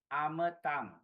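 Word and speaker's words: amataṃ: Line number 1, amatang. Short A, short A, short A. There are 3 short A's here.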